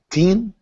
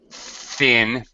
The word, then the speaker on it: thin: the with the maybe teen teen jacket okay and and coat okay yeah be be careful of the pronunciation of the th stick out your tongue don't be shy Thin and Thick yeah okay